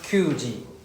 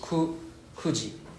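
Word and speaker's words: 九時: We don't pronounce QG. It's not Q. It's kuji.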